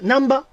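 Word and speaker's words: 難波: ナーに、ナーにアクセントくるってことですよね。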